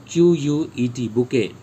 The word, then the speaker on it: bouquet: ठीक है, BOUQUET, बुके। Alright, E is silent.